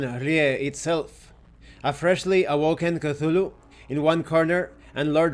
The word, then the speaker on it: Cthulhu: Oh, I've been saying it wrong, it's Cthulhu, not Cthulhu, Cthulhu.